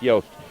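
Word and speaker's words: Jost: St and and her name is y it's pronounced yast we met her this morning we'll be talking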